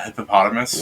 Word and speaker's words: hippopotamus: A hippopotamus.